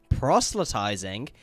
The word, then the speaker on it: proselytizing: so this word right here proselytizing that's how it's pronounced proselytizing affects the conversion power